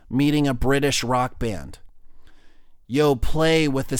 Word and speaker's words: Yoplait: no other reason than because they end their name with this silent T think about it Yoplait y ou PLA why